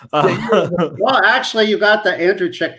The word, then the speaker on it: Andrucyk: Andrucyk. I was wrong. I lost the pool. Almost right, but I was still mispronounced it. I'm horrible. Well, actually, you got the Andrucyk right.